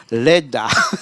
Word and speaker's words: Leda: Leda, c'est ça. Leda, je prononce à la malgache, je prononce pas le A à la fin. Non, on ne prononce pas le A, oui, ça fait LED.